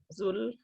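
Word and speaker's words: Dhul: the pronunciation the correct the correct pronunciation is the sound of the th and the so you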